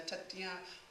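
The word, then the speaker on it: Taittiriya: There is also a touch to something in the Tatien Upanishads, and I'm pronouncing that not quite correctly. Taititia.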